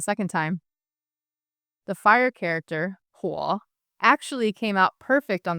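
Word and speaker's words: 火: Luck is pronounced xin, and fire is pronounced huo.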